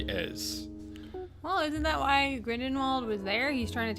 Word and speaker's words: Grindelwald: I think you got it right, Grindelwald.